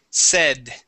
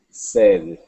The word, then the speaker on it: said: a a long a we use a short e okay the word is SE said said okay very good one